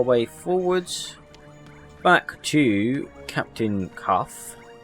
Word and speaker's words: Caph: Alright, so back in the Ivory Tower, we will potter our way forwards back to Captain Caph. I think his name is pronounced Caph, that's how it's spelled, C-A-P-H.